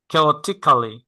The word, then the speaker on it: chaotically: ধরেন এখন আপনি উচ্চারণ করেন chaotically, তখন আপনি, তখন Chaotically.